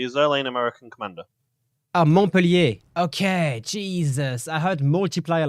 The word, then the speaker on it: Montpellier: Montpellier? Am I pronouncing it? Montpellier, yeah, Montpellier.